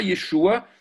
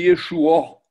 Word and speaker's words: Yeshua: Que, en fait, ce n'est pas Yeshua, c'est Yeshua. Yeshua.